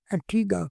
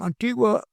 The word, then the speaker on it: Antigua: Antigua. Yes. Agua, come on, you cannot pronounce it properly.